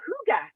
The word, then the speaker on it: hygge: i know you know what makes me remember how to pronounce it is um hooked on a feeling the song you know from uh guardians of the galaxy that's why i remember because it hasn't helped a feeling well you guys mess